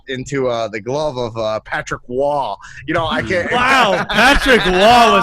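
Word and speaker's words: Roy: Patrick Waugh, spelled R-O-Y. Wow. The last name Waugh, spelled with an R-O-Y. Okay. French Canadian as fuck.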